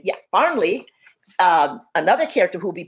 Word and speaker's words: Farnley: But when Farnley, make sure I'm pronouncing his name, yeah, Farnley, another character who will be pivotal in organizing